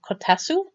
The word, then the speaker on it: kotatsu: Now I'm building, they called this a table, but I think it's supposed to be, and I believe it's pronounced kotatsu. It's a little heated table that's very popular in Japan.